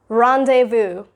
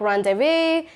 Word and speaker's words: rendezvous: Rendezvous. Now, it's a French word, so it's rendezvous. People pronounce it as like rendezvous or like rendezvous.